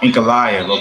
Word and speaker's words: Ankalaev: Instead of chasing, Ankalaev, okay.